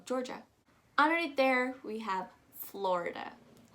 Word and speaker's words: Georgia: georgia georgia super easy just kind of pronounce it as jor ja you don't really need to pronounce it as that i a sound that is kind of silent so just go georgia underneath there we have